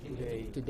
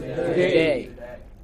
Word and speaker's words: today: Another noticeable feature of English pronunciation is that stressed syllables are very long. This is very long. And this is very short. Just say today. What is it? Today. This is hardly heard. Barely heard.